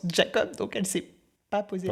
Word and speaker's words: Jacob: logique ben par exemple il y a un personnage qui s'appelle Jacob moi pour moi c'est Jacob elle le prononce Jacob et elle le prononce et on en a parlé et elle m'a dit et elle est Clodine elle est elle vient de Nouvelle-Calédonie elle m'a dit mais en Nouvelle-Calédonie on prononce Jacob donc elle s'est pas